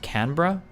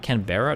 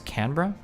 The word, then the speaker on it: Canberra: It's pronounced Canra, not Canberra, it's Canra.